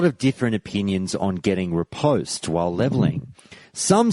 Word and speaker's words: riposte: It's definitely pronounced riposte, at least in my mind.